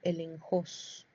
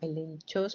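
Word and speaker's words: ἔλεγχος: en el chat, eh se escribe el enchó. Pero se pronuncia en griego elenjos, no la corrigió. Elenjos. Elenos, no como el enchó, pero se pronuncia el enjos.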